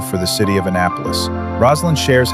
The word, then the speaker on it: Roslyn: Am I saying your name right? Roslin. Is that correct? You are. You're saying it correctly.